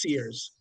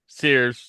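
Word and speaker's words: Ceres: Uh, Boo, let's not forget it's pronounced Sears. Oh, yes. Sorry, Sears.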